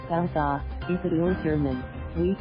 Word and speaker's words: Gose: A Gose, pronounced gow-za, is a pure German wheat beer, typically brewed with salt and coriander seeds.